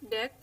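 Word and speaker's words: deque: Ya, seperti ini dijelaskan a queue pronounced as DEQ or a double-ended queue is a queue-like data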